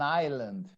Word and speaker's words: island: they fire first an island an island at night yes we say Island we don't pronounce the S okay an island or